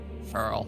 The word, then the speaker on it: Krile: I don't know how to pronounce that. Curl. It's just curl.